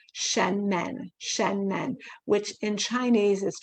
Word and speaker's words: Shenmen: It's called the Shen. s h e n and then men. Men, like the plural of man, shenmen.